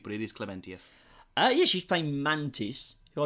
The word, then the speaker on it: Klementieff: Pom Klementieff is the actress playing Mantis. I was going to go with Clementif, but all right, It is. cool. It is. I originally said Clementieff, but it is Klementieff.